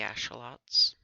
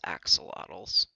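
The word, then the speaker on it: axolotl: dug up and these glow berries um the Asel Lots commonly mispronounced as Axel AAL um um but these and those flowers and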